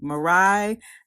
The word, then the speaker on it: Mirai: that's the ice skater that's how she pronounced her name mirai nagasu she came in